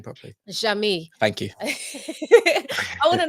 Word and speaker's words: Jeamie: Jeamie.